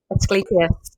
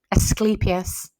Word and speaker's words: Asclepius: The rod of, I can't even pronounce it. Asclepius.